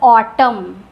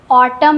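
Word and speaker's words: autumn: For example ऑटम। ऑटम में N silent है क्योंकि एम के बाद है एन।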